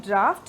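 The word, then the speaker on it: draught: गया ठीक है और ये इसको भी वैसे ही प्रोनाउंस करते हैं ड्राफ्ट लेकिन इसका स्पेलिंग है डी आर ए यू जी एच T which means cold bridge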